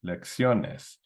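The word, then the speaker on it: lecciones: syllable so lexiones and we still want the stress on that o okay lexiones well do we need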